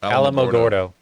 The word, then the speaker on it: Alamogordo: how do you say it Alamogordo sure a national search begins when it is